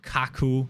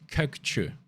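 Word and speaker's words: Kökçü: makes videos themselves please it's not kaku it's not chew kirk chu please i beg you just say it the right way you guys have spent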